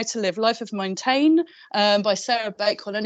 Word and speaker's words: Montaigne: Montaigne?